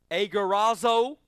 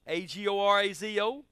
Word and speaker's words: agorazo: And those words are, I like this, agorazo, A-G-O-R-A-Z-O. That probably ain't how you pronounce it, and ain't nobody from Texas can pronounce it right.